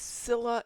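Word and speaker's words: Scylla: uh you put in the Greek uh pronunciation in American English it's sila and caribbdus I got into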